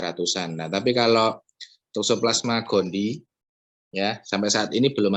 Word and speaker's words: gondii: I-nya double memang ya tulisannya, Toxoplasma gondii. Tapi bacanya Toxoplasma gondii.